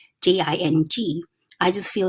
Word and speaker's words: Tao Te Ching: Wen Dyer's, he pronounced this Taoteching, but it's okay. But basically now a lot of people do read the Tao Te Ching, it's like a Daodejing.